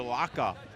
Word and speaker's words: Vilaca: correction on the pronunciation it's V vaka vaka Adrien vaka they're giving us a test